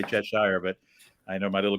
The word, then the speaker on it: Cheshire: Do you pronounce it in English, Cheshire or Cheshire? I say Cheshire, but I wouldn't always. I don't know what's the correct way. It's just the way I've always said it.